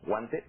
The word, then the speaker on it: Huante: Esta mañana pues, se encuentra con nosotros Marlene Márquez Guante, así se pronuncia, sí. Guante, ella es pintora y además es arquitecto, que era lo que estábamos platicando.